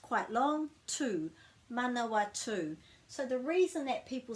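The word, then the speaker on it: Manawatū: pronounced quite long too manawatu so the reason that people say manoa too is because they don't know about that break after the vowel and they're saying man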